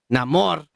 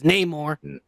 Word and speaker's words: Namor: But now we know what I said before, that Namor was gonna be Mexican, and I told you he was, and you said it's Namor, and I'm like, no. It's always been Namor.